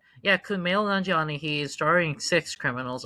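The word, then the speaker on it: Kumail Nanjiani: movie internals with that name, I have difficulty pronouncing, Kumage. Kumale Nani. Yeah, Kumale Nanjani.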